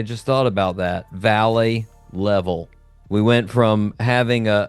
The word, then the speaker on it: Leavell: to America settled and somehow the name got pronounced level. We got we got lazy in America and we were like you know what level it's fine.